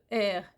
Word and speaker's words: her: mot là c'est rare mais her et pas H a r comme le verbe avoir c'est vrai que ça